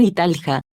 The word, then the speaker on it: Italia: Italia, en italiano, Italia, pronunciado Italja, escuchar, oficialmente la República